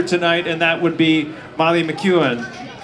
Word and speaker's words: Molly McEwen: We have one more to feature tonight, and that would be Molly McEwen.